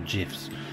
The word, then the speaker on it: GIF: can make animated um now this is gonna annoy lots of people the way i pronounce it animated gifs or gifs now we're in england so we call it gif here so yeah i